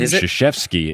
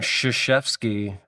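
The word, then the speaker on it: Krzyzewski: And Shashevski got to be an SH, right? In a phonetic spelling. Sh maybe SHF E S H. Yeah. S K I or S ke E E. Um, but how do you differentiate the sh? Because it's shashki.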